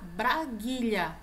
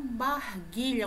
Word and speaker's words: braguilha: Então, o zíper aí, tá, se localiza na braguilha e não barguilha, como muita gente fala.